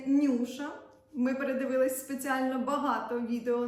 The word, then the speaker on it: Newsha: знаю що тут знаю що це бренд ніби читається Нюша ми передивились спеціально багато